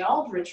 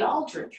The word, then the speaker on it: Aldrich: from the aldrich report the correct pronunciation of the aldrich report is the aldridge report number seven if you